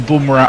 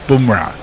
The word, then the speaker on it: Bumrah: pronunciation the other day you seem to be waxing and waning between bunra and bamra he says it's bumra um warren says uh